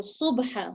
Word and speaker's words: صبحا: So subha, subha, صبحا. sad. Pronounce, so say seen and then say sad. Sad sounds similar to seen, just the heavier sound.